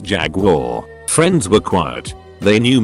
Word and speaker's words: Jaguar: were talking cars and i pronounce the make jag you are douchebag on the next stool takes the time to lean over and say it's pronounced jaguar friends were quiet they